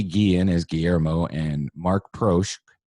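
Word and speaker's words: Proksch: as Guillermo and Marc proche how do you say his name that's pretty much it it's like German pro not mark Probst there Jeff Probst no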